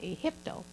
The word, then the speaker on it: Egypto: We would Egipto. They pronounced that Egypto.